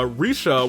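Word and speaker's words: Rixia: We got uh Risha, which you know what? Chineseesque pronunciation. Thank you for that, Kakoma.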